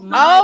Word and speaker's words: Maja: It's Maya. Oh, Nice to meet you, Maya. Is it Maja? Maya. My the J is silent.